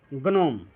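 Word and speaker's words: gnome: तो वही होता है, जब जी के तुरंत बाद एन आ जाए तो जी को क्या हो जाता है, जी जो होता है वो साइलेंट हो जाता है। जैसे यहाँ पे देखिए गनोम।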